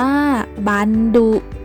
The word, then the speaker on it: บัณฑุ: หน้า กลอง ทั้ง สอง ข้าง บัณฑุ อ่าน ว่า บัณฑุ หมาย ถึง สี ขาว เหลือง เหลือง อ่อน ซีด